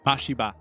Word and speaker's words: Mashiba: Miyata Mashima. Mashiba. I say it wrong.